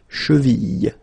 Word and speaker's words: cheville: Remember, double L like that after I, cheville.